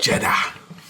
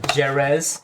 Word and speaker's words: Jerez: Jeddah. What is it, dude? Don't just laugh. Educate. Because he doesn't know. Educate. I spat all over the place. Rich spice. Like Spain, Jerez, Jose.